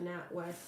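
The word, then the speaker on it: NatWest: need to know about not West am I saying it correctly not West yeah not West not West or not West I think that's an a not West okay what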